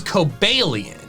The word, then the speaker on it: Cobalion: The first part of its name comes from cobalt, referring to both the metal and the blue color.